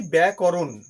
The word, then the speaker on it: ব্যাকরণ: উচ্চারণ আমি করলাম কি, ব্যাকরণ। অনেকে এর উচ্চারণ করেন ব্যাকরণ। এটা ভুল উচ্চারণ, এটা ব্যাকরণ নয়, কারণ কয়ের পরে কোনো অবস্থায় আকার নেই।